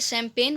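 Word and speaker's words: champagne: देखिए, ये वर्ड को हम पढ़ेंगे शैम्पेन, भले ही वर्ड मीनिंग कुछ अलग है, कुछ ऐसे वर्ड्स होते हैं जिनका प्रोनाउंसिएशन और उनकी जो स्पेलिंग होती है वो एक दूसरे से काफ़ी अलग होते हैं। तो आप हमेशा इस वर्ड को देख लीजिए, अच्छे से कहीं नोट कर लीजिए, ये शैम्पेन है, ठीक है।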